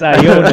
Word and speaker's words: Iona: It's like I- Ionia with extra stuff. Wait, what? Let's stop. Iona. It's Iona, not Ionia.